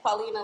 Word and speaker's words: Qualina: When I say my name, people say like quality. Like Qualina like quality.